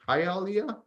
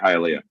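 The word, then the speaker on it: Hialeah: okay Joshua hit how is how do you pronounce that City ha Alia yeah that's right hiia okay let's look at haia Florida oh wow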